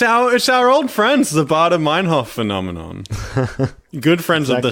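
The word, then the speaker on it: Baader-Meinhof: It's definitely for sure 100% not pronounced like that. But it's the Baader Meinhof phenomenon. Okay, I believe you. In my mind, like, I remember my mnemonic device is Darth Vader and David Hasselhoff shaking hands.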